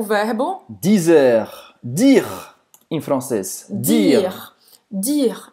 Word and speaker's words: dire: Olha aqui a pronúncia aqui na garganta. Dire, dire. E você não vai dizer dire. Dire, não é dire. Esse e no final, esse e no final, não vai ser pronunciado.